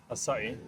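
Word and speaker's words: açaí: Acai? Acai. Acai. Nope. Proper pronunciation, acai.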